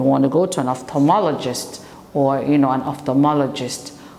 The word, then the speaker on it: ophthalmologist: an optician they have to go see an off regist an ophthalmologist so you have for the children on the